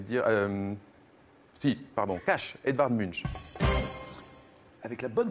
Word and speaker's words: Munch: donc je vais dire si pardon tâche edvard munch avec la bonne prononciation plus où elle va pour les plus